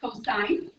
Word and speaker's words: cosine: And then you've seen this, and that is pronounced cosine.